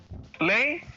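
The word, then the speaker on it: Láeg: The first one he put was Lay, I believe.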